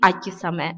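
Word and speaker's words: 秋雨: Но вот как раз в случае со словами «весенний дождь» и «осенний дождь» у него нетрадиционное чтение «саме», «харусаме» и «акисаме».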